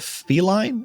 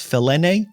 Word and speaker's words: Felene: So it's called Feline. No, it's not. It's Felene. We're gonna call it Felene.